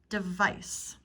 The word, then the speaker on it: device: listen for these terms device device the e sound here is like the schwa o device device is